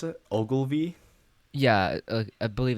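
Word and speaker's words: Ogilvie: pacific northwest line right they terminate at the ogalla oh sorry how do you pronounce it ogilvy yeah uh i believe it's that yeah transportation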